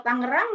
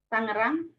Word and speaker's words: Tangerang: Itu g-nya dua ya kalau Tangerang berapa g-nya Tangerang satu Bu satu Bu satu kalau satu dibacanya tangeran dong tangeran kalau satu Ayo Iya kan satu at dua sat Tengah Tangerang tapi banyak yang bilang Tangerang Iya itu sama dengan